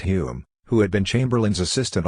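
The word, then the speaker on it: Home: morally broken conservative government headed by H pronounced Hume who had been Chamberlain's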